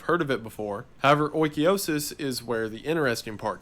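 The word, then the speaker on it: oikeiosis: get into it and i'll leave it alone oikiosis and according to the internet that is how it's pronounced i looked one up this time it's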